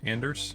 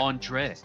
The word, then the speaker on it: Anders: And so last, we'll hear from Kane Anders. Anders, did I get it wrong? Anders. It's okay. It's all right. Andre. It's all right. I'll remember next time. Yeah. Andre. The S is silent.